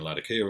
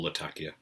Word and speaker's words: Latakia: I used to smoke Latakia in it, and only Latakia, but as I'm not really smoking Latakia at the moment, or Latakia, depending on your chosen pronunciation of the word, then I'm smoking all sorts in it at the moment.